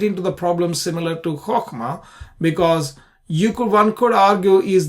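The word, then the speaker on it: חָכְמָה: this is Qamats Qatan, so you pronounce a chokhmah. Okay, not Qamats Gadol, which is a chachema. If it is a big one, then a chachema. Then if it is a small one, then chokhmah. Okay.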